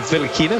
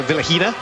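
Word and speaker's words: Vilukhina: Well, we've just had an email in from Elena, not only telling us that you don't pronounce the K in the Vilakina, so Vilahina, and she was rooting for the Russians this afternoon.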